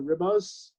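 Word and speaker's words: Ribas: the main card women's flyweight bow between amanda ribbus that's how you pronounce her name where's it who's going up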